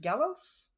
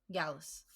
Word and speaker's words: Gallus: All right, so like I was saying, Roderick Strong was just about to get kicked out of Diamond Mine when Gallus Gallos Gallus. Thank you.